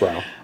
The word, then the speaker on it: Rao's: It's Rao.